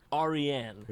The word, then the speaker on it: Aryan: him and it is a Persian name it's pronounced aren oh you see the Indo Arians the yam